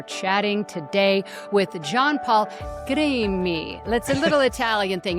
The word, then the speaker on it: Crimi: I'm your host and we are chatting today with John Paul Green me.